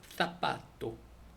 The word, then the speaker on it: zapato: 그 다음에 theta, 이거는 이제 th 발음되는데 이건 z. 그 다음에 zoo, 주잖아요. 근데 여기서는 oo, 그냥 o 발음이 나니까 tho. 그 다음에 zapato, zapato, zapato.